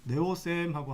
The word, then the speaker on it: 네오쌤: 자, 선생님 부를 때는 네오쌤이라고 부르면 됩니다. 그냥 니오쌤이라고 불러도 되고요. 영어 발음 따라 다 다른데 네오쌤하고 한글로 네오쌤 안녕하세요 이렇게 해도 좋습니다.